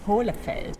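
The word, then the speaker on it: Hohle Fels: Pero mira, tenemos aquí a Ana Schulz para que nos lo pronuncie. Hohlefels.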